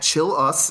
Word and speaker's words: Chilous: on twitter um at chill us that's how you pronounce my last name it's c-h-i-l-l c-h-i-l-l-underscore us